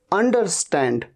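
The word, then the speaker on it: understand: इसे कई बार अंडरस्टैंड, अंडरस्टैंड, अंडरस्टैंड नहीं, अंडरस्टैंड, र को तो आप साइलेंट ही मान लीजिए।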